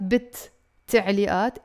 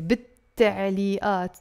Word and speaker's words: بالتعليقات: كتبلي, بي, ال, but together it becomes bit, بالتعليقات. So it's not بالتعليقات. Together there's a shadda here. بالتعليقات.